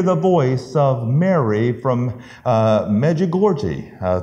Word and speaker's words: Medjugorje: And this person said, I hear the voice of Mary from Medjugorje. It's over there near Czechoslovakia, I believe. And I believe that's the proper pronunciation of the town.